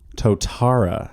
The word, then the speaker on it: Totara: Today we're talking about the Totara. Yes. Well done. I had to stop myself from the other pronunciation.